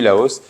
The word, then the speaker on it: Laos: On ne prononce pas le S final.